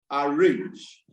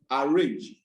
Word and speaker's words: arrange: But if I realize that it is a verb, automatically or usually the stress will be on the last syllable.